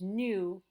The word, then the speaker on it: nous: we're going to use nous to begin our sentence. Okay? So that S is silent. Be careful when you say it.